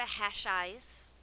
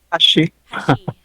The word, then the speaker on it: Hashi: we're gonna go over to Hash Eyes. Moon Sugar Meadow. Did I say it right? Hash Eye? Hashi. Hashi. Yeah.